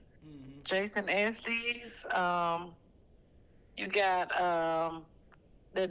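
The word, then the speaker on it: Esteves: I don't know how to pronounce his last name. Esties. Jason Estes.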